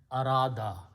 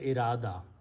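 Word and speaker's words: أراد: will be pronounced as Arada. Arada in Urdu we say irada.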